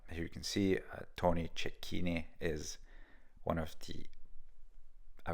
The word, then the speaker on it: Cecchine: century however I believe in American English it is pronounced differently his last name I'm not sure but um in Italian I'm sure it's ch so here you can see